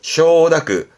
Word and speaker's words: 承諾: 쇼다크, 쇼다크.